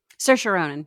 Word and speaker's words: Saoirse Ronan: She was also in this movie with, how do you pronounce her name? Saoirse Ronan? Saoirse Ronan.